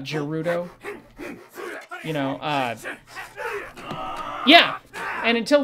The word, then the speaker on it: Gerudo: the rito the uh gerudo who becomes his wife um and yes i pronounce it gerudo not gerudo you know yeah and